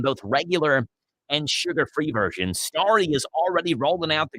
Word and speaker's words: Starry: They're calling this Starry. It's like it's spelled Starry, like a starry night.